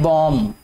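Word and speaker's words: bomb: कर देते हैं जी, बी ओ एम बी, ठीक है बेटे। इसमें जो बी है ये वाला, ये साइलेंट है, इसको पढ़ते हैं बॉम, ठीक है, ये एटॉमिक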